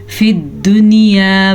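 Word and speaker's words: فِي الدُّنْيَا: फिद दुनिया, या के ऊपर कोई भी हरकत नहीं है तो या साइलेंट, या इसको हम खामोश या कह सकते हैं, जो कि लिखने में आती है, अरबी रस्मुल ख़त का हिस्सा है। जैसा कि ये अलिफ, ये लाम, ये भी अरबी रस्मुल ख़त का हिस्सा है, तो ये सब साइलेंट है।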